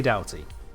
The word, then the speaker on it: Doughty: We don't need yet another way to pronounce O-U-G-H, and yet here it is. Ow. So yes, melee Doughty.